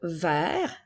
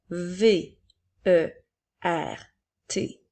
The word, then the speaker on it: vert: Alors, nous avons le mot vert, V, E, R, T. La lettre T est une lettre muette. Elle est là pour nous permettre de faire la couleur verte au féminin.